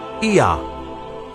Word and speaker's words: Ea: And the third god was called Ea, which is pronounced Ea, and it became Yah, and Yah became Yahweh.